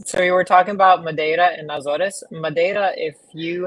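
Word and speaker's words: Madeira: So you were talking about Mada and Nazarees.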